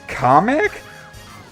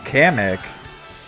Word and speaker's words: Kamek: It's pronounced comic? I could have sworn it was Kamek.